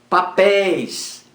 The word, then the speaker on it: papéis: última roi é herói oxítona então acento continua papéis papéis oxítona é aberto o acento continua véu véu monossílaba é o véu é o olha aí